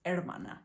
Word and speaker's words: hermana: And like sister in Spanish, brother, hermana y hermano, it's not hermano or hermana, it's hermana. You just start without the H, right?